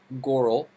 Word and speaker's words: Goral: Now, today, we have the pleasure of speaking with Goral, rhymes with coral, who is a brand amplifier and an extremely nice and impactful human being.